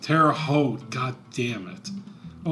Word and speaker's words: Terre Haute: Is that how we pronounce it? Terre Haute. Terre Haute.